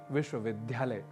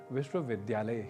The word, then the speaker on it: विश्वविद्यालय: ही बोल रहे होंगे जैसे एक प्रसिद्ध उदाहरण है विश्वविद्यालय जिसे आप अक्सर सुनते होंगे विश्वविद्यालय के रूप में जो कि गलत है इसका शुद्ध उच्चारण विश्वविद्यालय ही है तो बात यहां इतनी